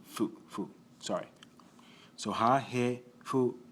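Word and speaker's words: ふ: This particular character can be pronounced as hu or fu. Actually, mainly fu.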